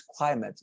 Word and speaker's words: climate: climate you know it's the pronunciation is climate let me um write it for you in the chat box i know of course you are meaning uh clima and when you use